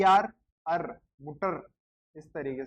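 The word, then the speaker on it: Mutter: है ट, मू ट, और ई आर अर, मुटर, इस तरीके से मुटर होता है।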